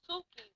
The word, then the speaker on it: Suki: Well, Suki rhymes with the Suki rhyme with Soupy? Soupy, Yeah. Coochie. Oh. Suki, Coochie. Say it with me. Suki, Coochie. Suki Coochie. Suki rhymes with Coochie.